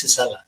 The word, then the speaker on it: Gisela: I'm like, no, it's Gisela. It's even though I think it's atypical for American like myself, like Mexican American, to even see a G and pronounce it that way. Versus if it was a J, then I would probably just pronounce it Gisela.